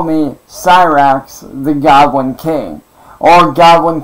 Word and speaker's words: Cyraxx: Dude, no, my real name's actually, but everybody knows me on here as Cyraxx, because that's the name that I got known by. And yes, it's spelled exactly like it sounds.